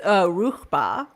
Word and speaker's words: Ruchbah: How do you pronounce that? The Ruchbahians? It's Ruchba is the Arabic name for the star.